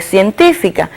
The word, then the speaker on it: científica: Y tenemos también el caso de científica, que es otra palabra esdrújula, pues si la dividimos en sílaba, también coincide que tiene su fuerza de pronunciación en la antepenúltima sílaba y es por eso que también se acentúa.